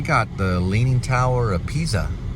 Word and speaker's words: Pisa: Looks like we got the Leaning Tower of Pisa right there. I think they actually say Leaning Tower of Pisa. It's not a Z, it's actually a S. Pisa. Almost like saying pizza, but Pisa.